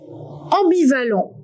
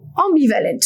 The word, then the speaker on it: ambivalent: And the other one, am, you can find it in the word ambivalent, ambivalent, for example, or in many other words.